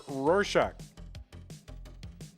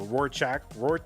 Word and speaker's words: Rurczak: Or Rurczak, I don't know. Rurczak. I say it like, I do have a tendency to say it like the Rorschach test.